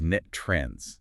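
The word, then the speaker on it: NTREIS: And just a quick note for you listening, the industry pronounces that acronym N3Is as net trends.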